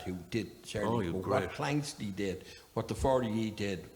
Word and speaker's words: Planxty: He also reminded me there that when we started off first, nobody could pronounce the word Planxty. People used to call us Planxty, Plantex, Planetaxi. It took a few years before people could say Planxty.